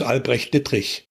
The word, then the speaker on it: Albrecht Dittrich: And that is very difficult to pronounce for anybody but Germans. It's Albrecht Dittrich.